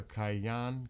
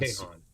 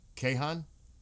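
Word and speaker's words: Kayhan: The Iranian newspaper Cayan Kayan, which is affiliated with Iran Kahhan. Kahhan. Thank you.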